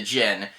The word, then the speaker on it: djinn: no chaser uh but jyn is not spelled like the drink it's spelled d-j-i-n-n like the creature the gin uh so yeah it's